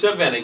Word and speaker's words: Shavanna: but no, it's Shavanna.